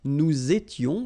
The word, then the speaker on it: nous étions: Tu étais, il était, elle était, nous étions, little liaison here to make it more beautiful, nous étions, okay, final S not